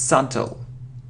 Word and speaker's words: subtle: It isn't subtle, no, it isn't subtle, it's subtle.